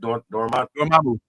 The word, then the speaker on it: Dormammu: Dormammu.